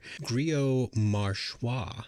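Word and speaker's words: Grillo-Marxuach: the other writer was Javier Grio marshwa that's how you say it it's definitely a mouthful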